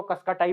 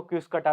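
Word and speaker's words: Cuscuta: भी एगजैक्टली नहीं पता हम तो इसको कसक टाई बोल लेते हैं बाकी कुछ लोग इसको क्विस कटा भी बोलते हैं तो जो भी है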